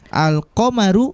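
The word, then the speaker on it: القمر: Al-qamaru pendek semua, tidak ada yang panjang. Bukan kita baca al-qamaru, bukan kita baca al-qamaru, bukan, tapi kita baca pendek semua.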